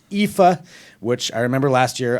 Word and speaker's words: IFA: It's EPHA, which I remember last year I got in a lot of trouble because I called it IFA.